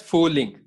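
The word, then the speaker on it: Frühling: So again, the R is silent. So what you will pronounce it as fooling.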